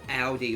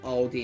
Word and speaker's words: Aldi: No, just a generic brand of chit purchased from a store called Audi or Aldi as Americans like to pronounce it where they have where they store only their brand pretty much.